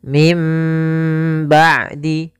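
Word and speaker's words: من بعد: Nunnya diwarnai dengan warna abu-abu, menandakan nunnya dianggap tidak ada, diganti dengan huruf mim. Maka membacanya mim ba'di.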